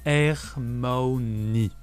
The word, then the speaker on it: Hermione: de son nom pour Victor krumb qui se prononce hermaoni dans Harry Potter et la coupe de feu